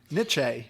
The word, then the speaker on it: niche: This is one of those words that I can say it in my head, but I have trouble saying it out loud. Niche? Yeah. Okay, I said it right this time.